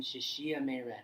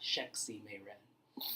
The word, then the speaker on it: Shexie Meiren: It's actually, you have to understand Chinese pinyin to understand that XI makes a she sound.